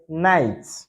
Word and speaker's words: night: For instance for instance K is not pronounced in the word night. K is not pronounced in the word night or no.